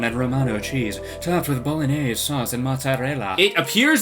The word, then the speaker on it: Bolognese: Bolognese. Yeah, it's pronounced Bolognese.